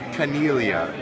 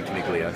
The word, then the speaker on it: Caniglia: get it right okay my name is but it's actually pronounced canelia I'm Sicilian so if you want to pronounce it right it's canelia but everybody calls me caniglia so thanks a lot